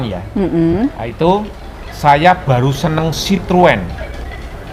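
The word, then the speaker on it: Citroën: itu saya baru seneng sitrun pembacanya sitrun sore sitrun guys bukan siluet Giant screen Dian atau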